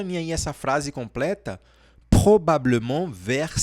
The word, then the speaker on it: probablement: Você consegue falar essa palavra aqui, ó? Probablement. Probablement. Repete. Esse R aí é um problema, né?